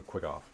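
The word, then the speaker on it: quaggoth: It seems to be a quagif. Or is it quick off? We're going to quick off. Quick off. I like the way Tree pronounces it. Quaggeth.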